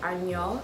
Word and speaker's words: Anya: So, it's spelled Anya, but you pronounce it Anyo, so it's Anyo